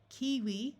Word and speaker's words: kiwi: Kiwi with a long E.